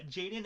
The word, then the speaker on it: Jaden: Well, Jaden and Zion is the correct pronunciation.